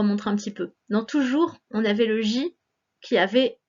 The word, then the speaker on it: toujours: écris le mot toujours le son j s'écrit avec un j et on n'oublie pas la lettre s à la fin qui est muette c'est la fleur qui